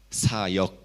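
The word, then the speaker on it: 사역: Ministrar, ¿cómo se pronuncia? Sayok. Así, sayok. Y criar los animales. ¿Cómo se pronuncia? Sayuk. Similar, ¿no? Say. Sayuk. puede distinguir sayok sayuk.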